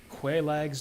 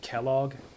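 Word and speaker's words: Quelaag: Quaelag's Domain. I've heard some people pronounce it Kellogg. Kellogg's Domain, which is kind of fucking weird.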